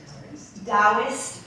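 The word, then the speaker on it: Taoist: Her knowledge spans from ancient dowist principles, it's spelled with a T, so I kind of to cutting medical therapies.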